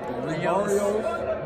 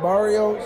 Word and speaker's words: Barrios: It's, how do you say their names, man? Burritos. Mario. Burritos. It's Barrios.